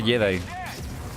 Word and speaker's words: Jedi: Se escribe Eddie, pero se pronuncia Jedi.